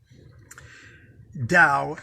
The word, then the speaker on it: Tao: i'll repeat that again in case you're cutting and pasting dow and dao is spelt tao tao hath no will to